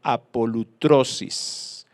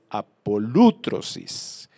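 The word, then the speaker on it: ἀπολύτρωσις: la palabra en griego a paul otros is bueno el acento viene en la aula pronuncie mal es apolo otros is y significa librar o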